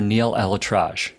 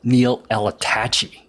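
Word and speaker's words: Neal ElAttrache: His name is pronounced Dr. Neil L. Atraj, not Neil L. Attachi.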